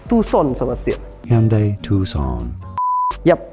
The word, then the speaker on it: Tucson: Ya, ini ada lineup terbaru dari Hyundai Motors Indonesia, Hyundai Tucson, Tucson, yang benar bacanya adalah Hyundai Tucson sobat setir.